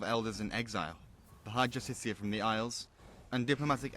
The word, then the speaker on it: Justiciar: He's a Justicar, a Thalmor. It's pronounced Justiciar.